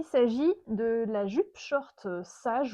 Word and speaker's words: sage: Il s'agit de la jupe short sage ou sage, je ne sais pas si on prononce à la française ou à l'anglaise, hein, S-A-G-E, de la Rose Pattern.